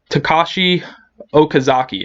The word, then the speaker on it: Takashi Okazaki: So, Afro Samurai is a manga series written and illustrated by Takashi Okazaki, I believe that's how you pronounce it.